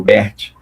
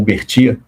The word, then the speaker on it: Bert: e destacar que você acertou a pronúncia do meu sobrenome, o Bert, né, que geralmente o pessoal chama o Berti, mas é, muito bom, agradeço, Cláudio.